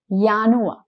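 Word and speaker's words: Januar: Since J in Deutsch is yacht, the sound of both these months will have here also the sound of Yanua.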